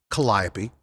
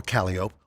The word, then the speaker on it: Calliope: on the parade route like mel palmini or melba mean calliope or calliope or chirp sickery or terpsichor it's new orleans you can pronounce them any way you want well this parade is